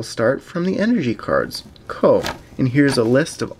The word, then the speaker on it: Koh: Ko is pronounced Ko.